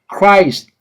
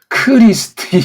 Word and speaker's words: Christ: 숨을 좀 살려고 이제 Christ 이게 한 음절짜리예요. 한 음절. 예? Christ. 이걸 한 호흡으로, 한 숨결로 제껴야 돼요. 이거 크리스트 이렇게 말하면 걔네들이 알아먹지 못하고 Christ 이렇게 발음한다고 하더라고요.